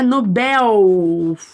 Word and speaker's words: Nobel: pronunciam de forma diferente algumas falam Nobel outras falam Nobel né bom de acordo com a Norma padrão entende-se que a palavra é Nobel foco força no Nobel se a gente fala Nobel tá errado quando nós